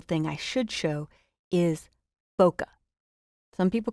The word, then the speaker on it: bokeh: other very cool thing I should show is bokeh some people call it bouquet but the prop pronunciation is B like bow tie and C